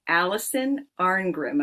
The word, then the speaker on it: Alison Arngrim: I have Allison Arrim and I hope I'm saying your name right.